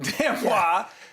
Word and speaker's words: d'Amboise: If it has an E, you pronounce the S. D'Amboise, because it has an E at the end.